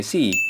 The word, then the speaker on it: C#: C Packer gini ya, C hashtag atau bacanya C#.